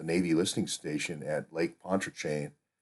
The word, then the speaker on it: Pontchartrain: But I go back to Deep Uranium telling me at the listening station, at the Navy listening station at Lake Pontchartrain, Pontchartrain, I guess it's pronounced.